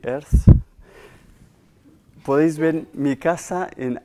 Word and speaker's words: Earth: Tenemos móviles donde con Google Earth, creo que se pronuncia así, Earth, podéis ver mi casa en Austin.